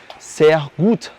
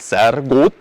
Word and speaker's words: sehr gut: En el alto alemán la R se pronuncia un poco como una G. Sehr gut, muy bien, por ejemplo. Pero en el suizo alemán es con R, entonces es sehr gut.